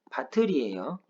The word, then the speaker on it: 밭을: 밭을이라고 하는 발음은 바틀이에요. 이거 밭을이라고 발음하면 안 돼요.